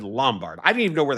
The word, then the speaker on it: Lombard: Lombard, remember those names, or as as we say in Chicago, Lumbard. I don't know why we do that, but I don't know why we pronounce Lombard like Lumbard. It's l o m, not l u m, like lumbar vertebrae.